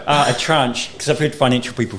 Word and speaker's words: tranche: No, here's that rhymes with branch, because I thought it was trench or Oh, something.